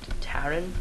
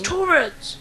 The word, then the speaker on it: Tauren: We've all decided to be Taurens, or however you pronounce it. Taren? Taurens. Taurens. It's Taurens.